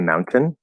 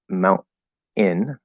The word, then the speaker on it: mountain: to be like in so you can say a mountain you can say mount in with keeping that and it's not a syllabic consonant um or you can say mountain with a syllable consonant so there's actually three ways to say that one word the more that i